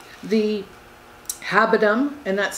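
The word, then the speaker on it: habendum: legal concepts they are what are called the habitum and that's spelled h-a-b-e-n-d-u-m clause that references the type of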